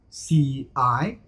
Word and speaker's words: city: If I take, for example, C-I-T-Y, that will be city. The C is pronounced as an S.